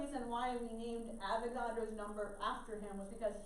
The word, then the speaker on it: Avogadro: numbers all right so that's again elastic flaw avogadro's law so this is counts it's a media